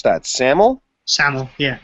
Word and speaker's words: SAML: You want to talk about how do you pronounce that? SAML?